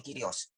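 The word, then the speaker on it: κύριος: Kata Kyrios, tulisannya kurios, kita bacanya Kyrios.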